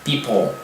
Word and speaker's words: people: Então people, por mais que na hora de pronunciar a palavra people isoladamente, né, a gente não perceba, mas é um som de L, people, né, people. Né, apenas a língua não toca o céu da boca, mas ele tenciona a